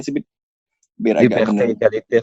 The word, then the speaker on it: égalité: Itu bacanya gimana sih, biar agak benar? Liberté, égalité, fraternité.